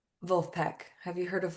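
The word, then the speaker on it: Vulfpeck: It's spelled like so Wolfpack, but say it with a German accent. Wolfpack.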